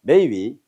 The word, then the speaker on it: 梅雨: 자, 근데 우리 발음 매운데 중국어로는 해봅니다. 매우입니다. 자, 해봐. 메이위. 이게 메이고 이건 위야. 메이위. 그게 매우야.